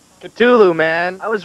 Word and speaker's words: Cthulhu: The exact pronunciation. Cthulhu, man. I was right. Jesus Christ. Cthulhu.